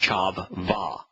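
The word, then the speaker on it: חַוָּה: There you will find Chavah with two V's from Chav and Va, or pronounced Chav Va, a noun proper feminine.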